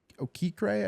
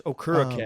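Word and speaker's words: Okereke: you got Bobby OK okra I think is how you say it think it's okur and he's good okur yeah yeah that would makes sense uh yeah he's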